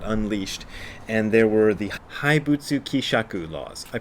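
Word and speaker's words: haibutsu kishaku: let loose got unleashed and there were the haibutsu kisaku laws i pronounced it wrong when i did the earlier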